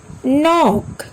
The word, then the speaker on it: knock: Look at some words where K is silent. Knock, knee, not, knife, knowledge, no.